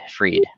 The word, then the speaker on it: Fried: sam bakerman fried uh is that how you pronounce it fried or freed freed sorry i like all good